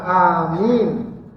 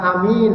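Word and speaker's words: آمين: maksudnya baca Amin apa ada panjang pendeknya yang benar ya panjang Amin bukan Amin bukan bukan Amin bukan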